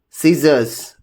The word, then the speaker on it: scissors: The rule one here is the letter C is usually not pronounced in the combination of S and C. Here, if you just look at scissors, ascent, fascinate, muzzle, in all these, C is silent.